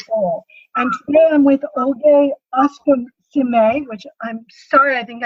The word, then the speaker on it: Okosieme: So the pronunciation is Okosieme. So Okosieme, but thank you so much for having me.